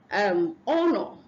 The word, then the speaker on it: honor: We have honor. The H is silent.